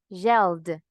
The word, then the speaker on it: yelled: Voy con la pronunciación correcta. Yelled, cleaned, d. El sonido.